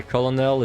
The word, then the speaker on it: colonel: speaking person you will never understand why colonell is pronounced like kernel really Kel that's how you